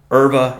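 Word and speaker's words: Euwe: Amongst them, you've got Capablanca, Rubinstein, Nimzovich, who ended up winning the tournament, Tartikover, Erva, or Yu, depending upon how you want to pronounce it and which country you're in, and a number of other masters around the world.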